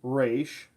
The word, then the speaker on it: Ra's: is the racial ghoul is properly pronounced raysh not Ra's al Ghul